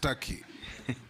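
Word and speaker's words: Türkiye: it is not called Tak it's Taki it's only written Tak but it's pronounced Taki thank you I that is the name of the country thank you I believe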